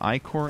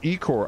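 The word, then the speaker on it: ichor: course you right there it's pronounced I Corps before people flip out man I did a video on fish and in it I'm explaining the I Corps I got so many how you pronounce it you pronounce it Ecore I had some guy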